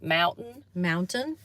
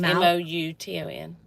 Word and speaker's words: Mouton: Mountain? It's no N. Mouton.